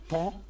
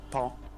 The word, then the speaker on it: paon: In France, which is a paon, P-A-O-N, a paon. Yeah, a peacock in France is pronounced paon. Pon. Paon.